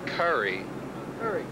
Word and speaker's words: Coury: bummer that is horrible people call me chicken curry and that is not cool not at all so you know what you know it's curry and to my extreme